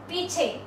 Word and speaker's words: पीछे: पीछे, पी दीर्घ है, पीछे, पीछे नहीं है, पीछे।